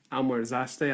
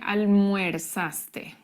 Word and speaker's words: almorzaste: Almorzaste a la una. Bueno, atención a la pronunciación. Oh, okay. What did I do wrong? Bueno, yo escuché almuerzaste. So it's almorzaste.